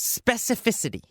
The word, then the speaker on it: specificity: A little difficult to pronounce, specificity. In fact, many native speakers have trouble pronouncing this word, especially if you say it fast in a sentence. Specificity. Specificity. Specificity. Sometimes I have trouble pronouncing it too, but I'm doing it correctly now.